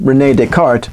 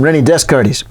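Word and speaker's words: René Descartes: this rainy descartes fella he insisted on pronouncing his name renee descartes but since he's dead i don't really care what he thinks uh i'm going to call him renny desk cardis and desk cardis there's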